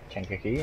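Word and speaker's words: Kankakee: Kinkakee is pronounced Kinkakee, and Kickapoo is pronounced Kickapoo.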